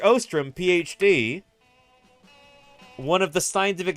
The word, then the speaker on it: Ostrom: wrong what a shame it's Ostrom with an O not ostram Ostrom Ostrom oh boy